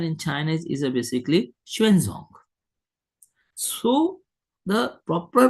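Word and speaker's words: Xuanzang: We pronounce according to our own system of pronunciation yuan chong. But this pronunciation in Chinese is a basically shuenzong.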